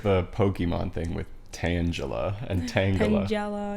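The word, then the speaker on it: Pokémon: Yeah, I think it's actually Pokemon, but not. Because it comes from Pocket Monster. Yeah. Yeah. Pokemon. That's like the American way to pronounce it.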